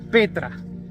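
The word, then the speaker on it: πέτρα: piedra es igual es la 4073 que se pronuncia Petra que es roca grande el señor Jesucristo le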